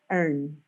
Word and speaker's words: earn: This is a verb and it's earn. That's a pronunciation. You don't pronounce the letter A. You only say A. So you say earn, right?